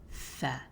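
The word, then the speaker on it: ث: I write it with the S here because a lot of videos I've seen explaining tha pronounce it like da, like a TH in English, but I feel like the texture of tha, the softness, is lost when you just write it as a TH. So I would personally spell it like this, tha. Almost sounds like there's an S in there.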